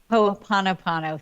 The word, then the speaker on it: Ho'oponopono: Yeah, there's this Hawaiian ritual, and I know I'm going to totally mess up the way you pronounce it. Maybe Ho'oponopono. Have you ever heard of Ho'oponopono. Ho'oponopono?